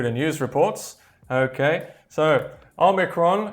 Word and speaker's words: omicron: uk you may hear oh micron o micron which to me does sound a bit strange i just say omicron so there we are just so you know it does have a few different pronunciations however as i said omicron is the most uh common one okay there we go